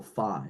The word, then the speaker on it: phi: matrix, which is this capital phi or phi, depending on your pronunciation.